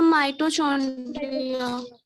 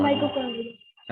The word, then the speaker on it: mitochondria: सर माइटोचॉन्ड्रिया। चौंड माइटोकॉन्ड्रिया। हाँ चौंड्रिया नहीं है, कॉन्ड्रिया है।